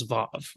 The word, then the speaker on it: vav: to earlier is how the wow um or valve in Hebrew today is now pronounced as a v sound historically is probably a weft sound in fact before you know in the 1930s if you're learning Hebrew um it was taught as a wow and in fact some you know Hebrew grammars they're enlisted as a wow consecutive or a wow as the letter and then you pronounce wow as VAV right even when you're